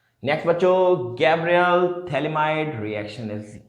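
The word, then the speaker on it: phthalimide: तो कैसे, ये होता है बच्चों थैलेमाइड का formula, this is द थैलेमाइड, ये P साइलेंट होता है, ठीक है, थैलेमाइड, ठीक है।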